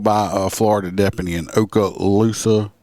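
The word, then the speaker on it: Okaloosa: a Florida depy in Oka Lusa I believe is how it's pronounced uh in Florida uh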